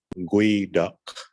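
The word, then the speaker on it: geoduck: But it really comes from a word in our traditional language, and it's originally announced or pronunciated as gui duck, gui duck, gui duck.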